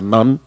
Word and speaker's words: Nantes: la isla de Nantes, se escribe, pero se pronuncia Nan.